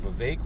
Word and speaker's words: Vivek: know how to pronounce his name 100 he pronounces it Vivek because I recently saw an interview where he